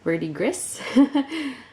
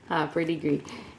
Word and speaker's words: verdigris: Verdigris? Verdigris.